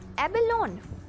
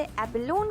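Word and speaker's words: abalone: Now moving on टू our next word which is एबेलोन। क्या हम इसे एबेलोन कहते हैं? जी नहीं, इसका सही प्रोनाउंसिएशन है एबेलोनी। रिपीट कीजिए, एबेलोनी।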